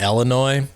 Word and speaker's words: Illinois: And it's, by the way, it's pronounced Illinois, and the state is garbage.